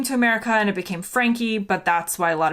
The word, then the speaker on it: Franke: my name is frankie and it's spelled well people think it's frank because it's f-r-a-n-k-e it's german it was francais but then